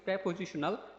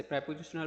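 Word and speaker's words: preposition: প্রেপজিশনাল phrase ঠিক আছে প্রেপজিশনাল phrase এখানে বলছে প্রিপজিশনাল অর্থাৎ আমরা জানি অনেকেই জানি যে প্রিপজিশন আমরা অনেকেই প্রিপজিশন বলে থাকি আসলে ওটার ওইটার উচ্চারণ হবে হচ্ছে প্রেপজিশনাল প্রেপজিশন ঠিক আছে প্রিপজিশন না ওটাকে প্রিপজিশন ঠিক আছে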